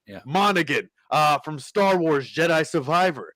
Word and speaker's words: Monaghan: Monaghan. Yeah. Monaghan.